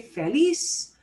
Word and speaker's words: feliz: accent mark this is we're supposed to punch the last syllable the way i say feliz does obey that rule i don't need any